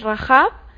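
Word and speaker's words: רחב: dos palabras completamente distintas si es más fuerte el sonido cuando dices rajab obviamente con gestos pues es un sonido de jota pero al decir rap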